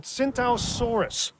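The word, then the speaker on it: Tsintaosaurus: told it's called at synthausaurus the T is silent like the p in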